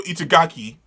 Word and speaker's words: Itagaki: to give a huge shout out to Paru Itagaki or Itagaku. Have you? Hold on. I gotta see how to pronounce the name. Okay, Paru Itagaki for what is arguably the most wonderful thing ever.